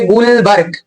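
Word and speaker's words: Guldberg: रखनी very important here D is silent so क्या पढ़ेंगे हम इसे गुलबर्ग and second one इज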